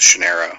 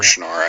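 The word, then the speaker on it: Shannara: the book elfstones of shanera or shanara however you're supposed to pronounce it I pronounce it shanera which is an excellent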